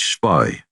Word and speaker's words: Spee: Friedrich von Spee, pronounced Spy, was a Jesuit priest